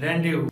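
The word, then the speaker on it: rendezvous: Friends सिर्फ एक ऐसा वर्ड है जहाँ पर जेड साइलेंट होता है और वो है रेंडेवू।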